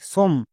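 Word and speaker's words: some: এস ও এমই সম একে অনেকে সম উচ্চারণ করছো। বাট সম উচ্চারণ হবে না। এর উচ্চারণ হবে সাম।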